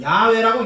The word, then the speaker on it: 야훼: 네 단어를 한 글자 한 글자 보면은 이, 에, 아, 에 이렇게 됩니다. 이, 에, 아, 에. 그래서 그걸 붙여서 읽으면은 야훼라고 읽는 겁니다.